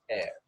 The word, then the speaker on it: heir: then you have no heir you know H is not pronounced we pronounce it that's air a few days later